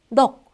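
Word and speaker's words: 넋: 받침으로 있는 게 기역과 시옷일 때 원칙은 앞에 있는 걸로 발음하면 돼요. 그러니까 기역으로 해서 넉. 그러니까 너 이게 아니라 넉이라고 기역으로 발음하시면 된다고요.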